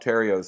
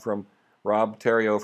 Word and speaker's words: Terrio: We use a lot of Rob Terrio's stuff. Rob's from Ontario, and that's how I remember how to pronounce his name. Rob Terrio from Ontario.